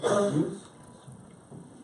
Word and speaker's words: Meuse: David Meuse. Did I pronounce the last name correctly?